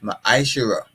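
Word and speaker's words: מעשר: And it means tenth in the Hebrew and is pronounced ma'ashera.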